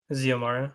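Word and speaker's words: Xiomara: Siomara. Ziomara, yeah. Siomara. Jomara? Ziomara Is with that a how you say Z. it? Yeah. The Zio? X the X makes a Z sound like xylophone.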